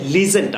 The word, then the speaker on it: legend: হ্যাঁ, লিজেন্ডটা উচ্চারণ হবে লেজেন্ড।